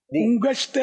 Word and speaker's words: انگشت: کی انگلی بولتے ہیں, انگشت شہادت بھی بولتے ہیں. دکھائیے امیر سنت, کچھ آپ ارشاد فرمائے وہی ہم دہرائیں گے. انگشت انگشت دونوں تلفظ ہیں.